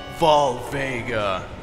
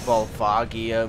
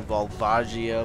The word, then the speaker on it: Volvagia: Even though there's an IA, so that would denote that I am almost definitely wrong in my pronunciation, but I don't care.